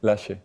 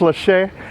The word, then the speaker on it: Laxe: Lash. It's spelled Lax. It's pronounced Lache.